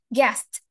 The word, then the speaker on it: guest: Tapi kalau misalnya ada T sound di belakangnya itulah yang membedakan antara gas dan juga guest.